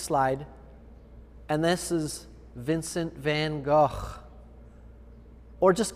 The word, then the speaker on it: Van Gogh: just call him vincent if you can't pronounce van gogh right i don't think i'm even doing it right van gogh he would have he's spinning in his grave if he heard you pronounce his name van gogh he got you'd be